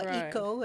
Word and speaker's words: Waco: But I think there's a wonderful focess there in the Helen Marie Taylor Museum on the Waco Indians, Right, or Waiko is the correct pronunciation.